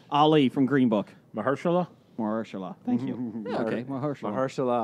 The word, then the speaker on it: Mahershala: do need your help though on this one because I have to pronounce he's a something? great actor. Yeah, Ali from Green Book. Mahershala? Mahershala.